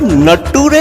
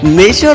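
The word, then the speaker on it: nature: नटूरे फुटूरे नटूरे क्या क्या क्या क्या है नेचर और फ्यूचर नटूरे और फुटूरे बन गया, मतलब क्या है यार मैडम साहिबा, मतलब कहाँ से मास्टर डिग्री लेके आए हो यार। नेचर और फ्यूचर को तो कम से कम सही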